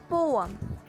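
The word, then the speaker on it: poem: Well, अगर आप सोच रहे हो हाँ, तो आप बिल्कुल गलत हो, क्योंकि इन सब वर्ड्स का सही प्रोनाउंसिएशन है आयन, डेब्री एंड पोअम।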